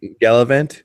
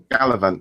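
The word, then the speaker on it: Galavant: um Castle um gav or how do you pronounce that one gallivant gallivant yeah there we gallivant that sounds a bit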